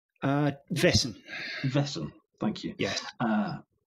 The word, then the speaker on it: Vaesen: i always play with the wording of the pronunciation of weissen faison uh vessen vessel thank you yes uh on the mythic